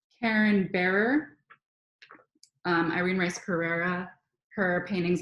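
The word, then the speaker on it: Bearor: this book by Karen, let me get the pronunciation of her name right, Karen Bearer, Irene Rice Pereira, Her Paintings and Philosophy.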